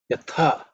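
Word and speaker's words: यथा: Yatha. That's the second letter in the tha varga, so that also has to be aspirated.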